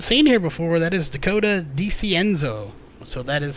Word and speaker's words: Dakota DiCienzo: That is Dakota DiCienzo. So that is how that is pronounced.